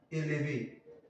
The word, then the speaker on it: élevé: For example, we can have élevé, élevé. So élevé, here you see there is accent on it, so it is pronounced.